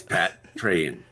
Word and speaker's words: Patreon: pat treon patrick and now with the words pronunciation it's pat train uh almost ready here